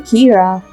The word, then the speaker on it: Kira: person behind this and calls him Kira which is the Japanese pronunciation of the word killer some people are in